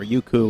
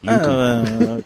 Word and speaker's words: Youku: Pronunciation in Chinese is not very good, ladies and gentlemen. Youku. Youku. Not Youku.